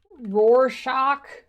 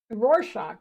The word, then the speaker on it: Rorschach: Rorschach. Rorschach. That is how you say it.